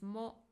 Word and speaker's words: も: It is pronounced as mo, and usually it comes after a noun.